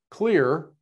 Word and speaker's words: KLYR: KLYR, see, I said it right that time.